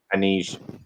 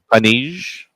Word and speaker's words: Anij: Anij? No, you pronounced it Anij? correctly. Anij. Anij.